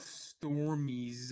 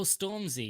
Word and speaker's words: Stormzy: hopefully oh right how did you feel about stormies uh being in washoe's legion how do you say that his name storm storm z oh stormzy yeah storm zed y stormtrooper y excuse me